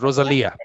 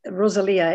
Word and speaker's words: Rosalia: your name rosalia she's rosalia rosalia it's an italian name it's rosalia it's uh my mother